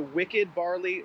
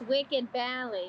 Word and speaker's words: Wicked Barley: Okay, so we're at the Wicked Barley Brewery. No, you said it wrong. It's Wicked Bally.